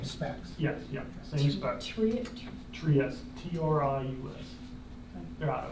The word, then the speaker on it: Trius: Trius. Trius, T-R-I-U-S. They're out of Allentown. I think that's how you say it, or it's Truist, maybe, Trius.